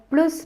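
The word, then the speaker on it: plus: என்ற அர்த்தத்தில வரும் அதால நீங்க எந்த வாக்கியத்தில இந்த பிளஸ் பாவி பாவிக்க போறீங்களா அல்லது ப்ளூ பாவிக்க போறீங்களா என்பதுல கவனமா இருக்கணும் நீங்க மாறி உச்சரிச்சீங்கன்ு சொன்னா அதட அர்த்தம் வந்து மாறிவிடும் மேலும் சில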